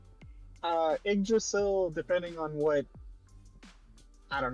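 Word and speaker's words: Yggdrasil: It It's pronounced uh Idrasil. Uh, Idrasil depending on what I don't know what bore you want to use.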